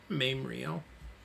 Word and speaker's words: Mamriel: name of mamriel or mamriel I should say mamriel that's how you pronounce it m-a-m -r-i-e-l Moon elf and then